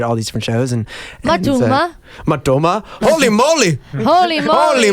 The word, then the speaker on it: Matoma: And Matoma? Matoma? Holy moly! Holy moly. Holy moly! Yeah. He says If that a you lot. ask Matoma how to pronounce Matoma, he goes, Matuma.